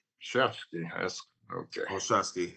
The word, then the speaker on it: Olszewski: curious if you use the W as a V. I'm sorry? You pronounce the W as a V, a Shevsky.